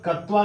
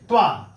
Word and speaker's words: त्वा: त्वा प्रत्यय ध्यान दीजिएगा इसका उच्चारण कवा नहीं है त्वा हल्का सा क आता है और आपको सिर्फ